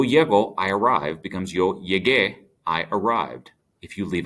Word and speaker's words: llegué: So, yo llego, I arrive, becomes yo llegué, I arrived. If you leave out the U, it'd be pronounced llegué, and that's not what we're looking for.